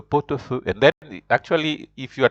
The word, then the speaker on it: pot-au-feu: Because T is a consonant, then A starts with a vowel, A-U is pronounced O. That's why you say le pot-au-feu.